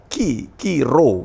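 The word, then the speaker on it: Chi-Rho: ya P dan X Nah itu bacanya itu adalah qiro ya qiro ini juga menarik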